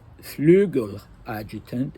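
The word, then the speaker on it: Flügeladjutant: G-E-L, and in Russian it's spelled with an E or an I, so Flegel adjutant, and it means wing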